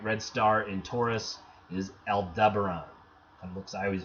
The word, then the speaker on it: Aldebaran: way and kind of get to Aldebaran el deber Ron as well as to